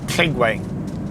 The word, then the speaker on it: Lligwy: Lligwy. I think they pronounce it, don't they? Lligwy Beach Cafe. Double L's pronounced I think.